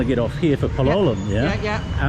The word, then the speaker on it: Palolem: said, "You want to get off here for Palolum?" Yeah. Yeah. Um where how do I get to Palm Beach? Palm is down this way. Palum, is that how you say it?